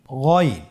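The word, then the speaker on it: غ: এই গইন হরফটি মোটা অক্ষর, উচ্চারণ করার সময় অবশ্যই মোটা করে বলতে হবে।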